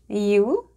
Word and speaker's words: Ю: I'm going to read the letters and then cover them up. Try to remember where the letters are and say them out loud with me. Are you ready? Let's go. E. E. U.